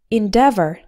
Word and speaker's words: endeavor: in the word never the stress is on the second syllable so altogether it sounds like endeavor to get more pronunciation